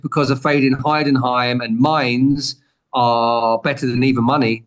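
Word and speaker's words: Mainz: one it's m sorry you told me how to say this properly Mains how how did you say it Mains mines mines yeah like hindes beans I have to remember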